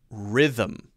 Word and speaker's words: rhythm: them rhythm rhythm rhythm so it's a two-syllable word them them them not